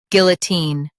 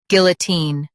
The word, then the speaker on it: guillotine: guillotine Now read the syllables shown on the screen naturally. guil uh teen guillotine Stress guil and say teen clearly.